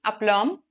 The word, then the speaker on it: aplomb: Aplomb. The B is silent here.